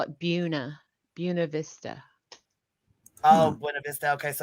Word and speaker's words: Buena Vista: Valley but um yeah they call it Buna Vista so I was I've been talking with people saying yeah you know it's over there in Buena Vista and you know who